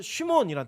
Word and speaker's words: 시므온: 이 시므온은 히브리어로는 쉬몬이란 뜻이에요. 쉬몬. 발음이 시몬인데 뜻이 뭐냐면 들음이에요.